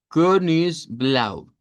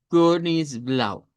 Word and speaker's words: Königsblau: Bueno, se va a pronunciar como una e redonda en realidad. Entonces, Königsblau. Königsblau. Asegúrense de al hacer ese sonido es como hacer la letra e, pero con los labios redondos.